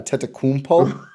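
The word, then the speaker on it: Antetokounmpo: who have played together also you pronounce janice's last name wrong it's a tetekunpo i said yeah it's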